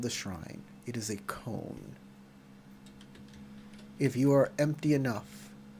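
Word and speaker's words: koan: you said Con I literally thought you meant c o n e not Coan or Coan con it it's pronounced con and it's a riddle basically is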